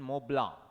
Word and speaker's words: Mont Blanc: homie j baba was attending a seminar in mobla in switzerland mont blanc not montblanc mont blanc